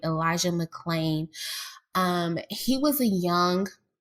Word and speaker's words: McClain: yeah let's talk about Elisha McCain or I'm sorry McClain let me say his name right Elisha McClain um he was a